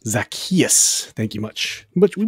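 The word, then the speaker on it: Zaccheaus: gave us the correct pronunciation everybody it is pronounced zakus zakus thank you much but we put your names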